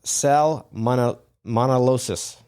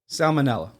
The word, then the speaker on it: salmonella: Uh I I don't even know how to pronounce this word. Begins with an S. Salmon monolis. Salmonella. Oh, salmonella.